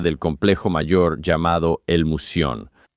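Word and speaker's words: Mouseion: El edificio que guardaba este conocimiento era parte del complejo mayor llamado el Musion. Así se pronuncia en griego, Musion.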